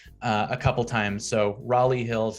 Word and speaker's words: Raleigh Hills: county line you have raleigh hills um i mean there's like a raleigh north carolina um although that they do kind of say that like raleigh so just know that it's raleigh hills um i i have